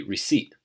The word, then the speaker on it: receipt: So an example of this in English would be like receipt. Sometimes we might just drop the t and it'd be receipt, right? It's a glottal stop and the second syllable is stressed, the seat. Receipt.